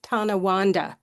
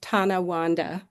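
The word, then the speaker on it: Tonawanda: Um it sounds just like it it's spelled just as it sounds. Uh North Tana Wanda and that community has just been uh over Thank you.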